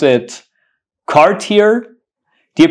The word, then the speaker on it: Cartier: do not mispronounce this word you got to pronounce it Cartier it's not Cartier so Cartier Cartier what about this word this